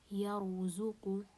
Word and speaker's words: يرزق: For example here, يرزق, the ra here is sakina and before it we have a fatha, so we pronounce the ra here heavy, يرزق.